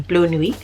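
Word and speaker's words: Bleu Nuit: I just butchered the name, Blue Nuit. I know the T is silent.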